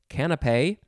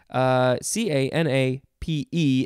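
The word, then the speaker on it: canapé: new channels next is you could pronounce this a couple ways most people say it's canape but some people like to say canopy but you would say it canopy c-a-n-a-p-e and there's an accent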